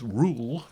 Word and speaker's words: REUL: Ah, yes, retained EU law, known in parliamentary jargon as rule, pronounced to rhyme with gruel.